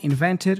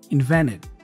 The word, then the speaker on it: invented: You see again, invented, we have that N and T combination. The T goes away, so I pronounce only the N. Invented, invented.